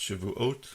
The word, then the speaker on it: Shavuot: is describing this holiday of shabas or pronounced Shavuot also known as a